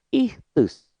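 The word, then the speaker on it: ΙΧΘΥΣ: Ini tulisannya bacanya ichthus.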